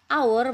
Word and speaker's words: hour: Sedangkan hour karena pengucapannya dengan huruf vokal hour, maka dia berawalan en. Ya, walaupun h di depan tapi pengucapan yang dilihat.